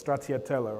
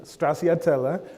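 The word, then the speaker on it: stracciatella: Uh my favorite ice cream and many of us is Stratiella, right? That's how you actually pronounce it. It's also Italian. Don't straatella, right?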